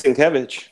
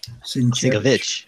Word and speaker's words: Sienkiewicz: What about Bill Sienkiewicz? How do you say that? It's Sienkiewicz. Sienkiewicz.